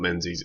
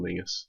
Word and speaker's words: Menzies: around on the tour we were pronouncing it as castle Mingus Castle Menzies because it's about Menzies is not its Castle Mingus look how young and